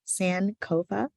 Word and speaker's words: Sankofa: first one would be our sankofa lounge pronounced san cova this is from the twee language of ghana meaning go back to